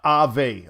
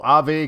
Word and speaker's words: Aave: bigger tables out there pronounce uh ave oh i would have never known that so ave kind of like uh reminds me of uh ave sounds like in spanish uh like a bird or something uh bitcoin